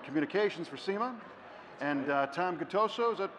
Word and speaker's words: Gattuso: Pete MacGillivray vice president of the show and and communications for SEMA and Tom Guto so is that pronounced correctly yes good to so Gattuso and you're kind of the operations guy that